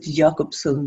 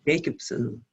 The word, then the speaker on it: Jacobson: analyst Edith Jacobson, and I actually pronounce it Jacobson because I think at the time we were in Berlin and we're not yet in the US, so she hasn't become Jacobson yet.